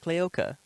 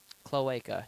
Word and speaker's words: cloaca: um can we see it come out the clioca cloaca you say it wrong every time okay it's my accent I know how pronunciation that's how it works no my clearca